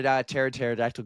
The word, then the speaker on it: pterodactyl: why can't you hear pterodactyl go PE because the p is silent I know I missed